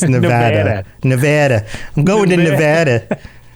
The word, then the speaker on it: Nevada: Well, just like we mispronounced Nevada during the pre-chat. And, Nevada. Very Bostonian. It's Nevada.